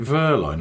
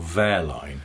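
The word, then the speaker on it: Wehrlein: rais a practical question is it Verline or verine it's both in the way that some people call vetal fetal fetal yeah or k calls them vetel yes I think the Germans pronounce it Verline oh I'm only asking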